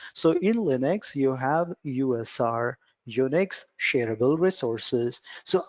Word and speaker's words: usr: in Linux you have USR Unix shareable resources so I better recommend you to call it USR instead of user user might confuse others